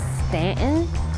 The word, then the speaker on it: Staunton: Staunton, which you call Stanton.